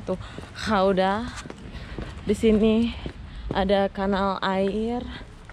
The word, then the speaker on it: Gouda: Ternyata cara bacanya tuh Gouda.